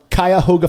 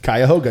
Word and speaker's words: Cuyahoga: From Cuyahoga Falls, Ohio. Scott say that again. Gordon. Cuyahoga.